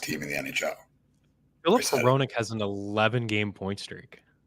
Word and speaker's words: Hronek: It's pronounced Hronek, but it's got an H, and you're just like, what the hell?